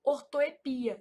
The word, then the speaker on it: ortoépia: Essa palavra ortoépepia, ela é um caso de variante, então ela também pode ser pronunciada assim, ó, ortoepia, sem acento.